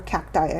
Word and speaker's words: cacti: Now, I have several white ghosts, cactuses, or cacti, I should say, right? That's the proper way to say cactus plural.